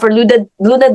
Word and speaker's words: LVNA: Luna Digital, just like Jamie mentioned, it's letter V, like victory. So it's spelled like LVNA Digital.